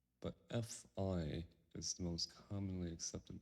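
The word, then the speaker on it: Phi: isn't a common knowledge V or F but f i is the most commonly accepted pronunciation the name of these Greek letter we'll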